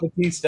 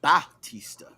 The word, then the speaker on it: Bautista: That's No, not Batista anymore. no, that's Dave Bautista. You gotta make sure the Oh AU well. Bautista. Ooh. I say his name right.